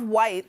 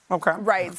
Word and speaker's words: Wights: of Whites. I'm always cool. It's whites, not rights, but it's spelled WIGHTS. Well, you could have because